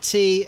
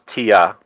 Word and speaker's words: Tea: as long as you don't say my name's Tia, we're good.